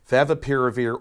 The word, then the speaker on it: favipiravir: of, and I'm going to slow down to pronounce this, Favipiravir, or Avigan, which is much easier. Favipiravir or Avigan.